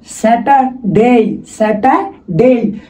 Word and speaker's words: Saturday: স্যাটা, স্যাটা, স্যাটারডে, স্যাটারডে। শব্দের শেষে যদি আর থাকে, বেসিক্যালি ব্রিটিশরা এই আরটা উচ্চারণ করে না, তখন এই আরটা থেকে যায়, উচ্চারণ হয় না।